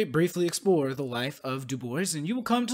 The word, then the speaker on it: Du Bois: as of the side his name was in is pronounced like dubois based upon his own certain instructions but his name also has roots in french so if you thought it was dubois no one can blame you much his mother was descended